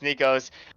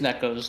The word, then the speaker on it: Nekos: echoes too and it's nico's and we're gonna see the um stig used in defense here yeah it is necco's not nico's okay so it's right